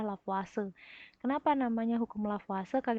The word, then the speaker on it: Lavoisier: dengan hukum lavase ya ini meskipun tulisannya lavoisier Bacanya adalah lavase Kenapa namanya hukum lava